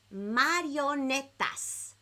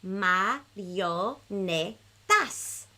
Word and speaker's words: marionetas: Marionetas. So that's a couple syllables. Let's do it very slow on the count of 3 in Espanol. 1, 2, 3. Marionetas.